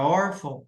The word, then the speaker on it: órfão: Então olha aqui ó na palavra órfão hora que eu separo o mais forte é o ó e não vão aqui então Ou seja